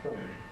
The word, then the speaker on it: from: But as soon as you get to some degree of sophistication, you need to know about from weakening to from.